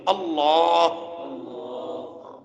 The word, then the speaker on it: اللہ: نہیں، اللہ، اللہ نہیں۔ لام کو موٹا کر کے منہ بھر کے پڑھنا چاہیے، اور لام پہ کھڑی زبر ہے، اسے ذرا کھینچ کر لمبا کر کے پڑھنا چاہیے۔ یہ اصل تلفظ ہے اللہ۔ تو یہ اللہ کا